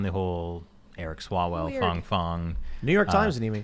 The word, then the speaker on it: Fang Fang: Fang. Fang Fang? Technically, with my very good Chinese pronunciation, it would be Fang Fang.